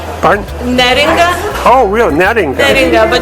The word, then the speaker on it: Neringa: could you pronounce your name, because I want to make sure everyone knows how you pronounce your name. Neringa.